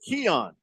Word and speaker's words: Keon: that's that's helpful I I like to tell people it rhymes with the element neon there's no way Jet's